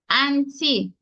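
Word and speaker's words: anti: any issues and T we have the short a in the first syllable an and then the short e in the second syllable T so that one is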